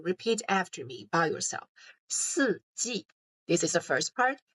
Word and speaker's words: 四季: So you can either read it by yourself or you can listen to how I pronounce that and then repeat after me by yourself. 四季.